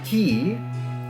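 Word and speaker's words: Quay: Slurry Key, right here. Because I will trust you that it is pronounced key.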